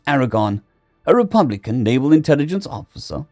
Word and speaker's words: 4R490RN: The team was led by 4R490RN, pronounced Aragon, a Republican naval intelligence